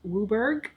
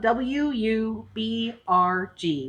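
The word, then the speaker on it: WUBRG: on our list is pronounced whoo burg people will say oh yeah it's a blue burg deck and you're like oh why thank you jack we work they're talking about wub are G which stands for white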